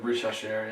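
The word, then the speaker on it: Risacher: Yeah, Rich Hasher.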